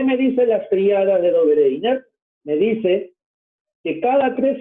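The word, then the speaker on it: Döbereiner: Dobereiner, en 1817, acuérdate bien este nombre, la verdadera pronunciación es Dobereiner, algo así, a lo medio ruso, alemán, ¿ya?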